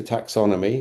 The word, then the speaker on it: taxonomy: So it was let's create a taxonomy, which rhymes with taxidermy, by the way.